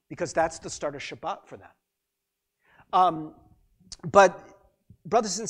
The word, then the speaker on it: Shabbat: the sabbath it is symbolically but the sabbath shabbat as it is pronounced in hebrew actually means saturday there's no